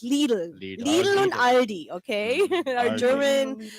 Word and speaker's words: Lidl: So, and or you guys say lidle, I think, but it's little and ali.